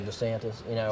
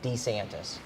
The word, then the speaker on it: DeSantis: like most Southerners, like me, I would say DeSantis, whatever. But every time I hear him pronounce his name, he says DeSantis.